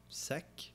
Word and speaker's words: seq: Seek is probably rather pronounced like sack than seek. Sec? Maybe. So the reason I pronounce it seek is because it's sequence.